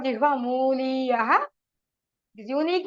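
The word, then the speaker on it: jihvāmūlīya: Whenever the Visarga followed by a Kavarga Ka Alpha Prana or Ka, then you get that sound, special sound. It is from the base root of your tongue. Then it is called Jihva Muliyaha.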